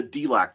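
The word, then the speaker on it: Delaque: It's the Delacque, D E L A Q U E. I believe that's how you pronounce it.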